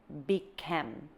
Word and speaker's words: بكم: The way we say this is bikem. This is Egyptian, okay? This is straight Egyptian. We don't say this in Lebanese or Jordanian. Bikem.